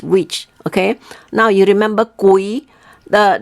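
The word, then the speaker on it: 鬼: okay now you remember kui the the spelling is is written as gui okay but when you you pronounce it it we call it as a k-u-i okay gui okay it's mean ghost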